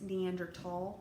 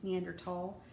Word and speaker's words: Neanderthal: move on with that also it's neanderthal with the t meander tall sometimes you will see it spelled with just the t sometimes you will see it spelled with a th it doesn't matter it's neanderthal um please i know